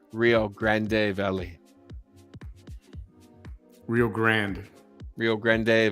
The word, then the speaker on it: Rio Grande: Rio Grande Valley.